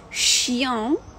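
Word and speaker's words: chien: Дивимося, як буде вимовлятися. Два приклади. «Щян», «щян».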